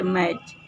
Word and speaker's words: match: उदाहरण दूसरा ले सकते हैं, जैसे यहाँ देखिए मैच, MATCH, यहाँ टी जो बीच में है उसको छोड़ दिया जाता है।